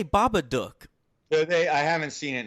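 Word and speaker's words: The Babadook: is happy Christmas and I prefer the proper pronunciation the Baba duck because it's supposed to rhyme with [ __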